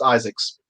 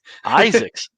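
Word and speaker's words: Izaakse: south africa his name is his name is pronounced isaacs isaacs okay so this is how you pronounce it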